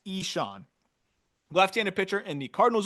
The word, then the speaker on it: Ixan: And then Eshawn Henderson, IXAN, pronounced Eshawn, left-handed pitcher in the Cardinals organization, 30 innings pitched this year, a 2.40 ERA, a 1.91 FIP.